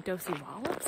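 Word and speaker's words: Dosewallips: Dos Wallop River Road I've also heard it's named OC Wallops so I'm not quite sure on the pronunciation the Rangers did tell me doci wallets I swear so go with that so Josie loves River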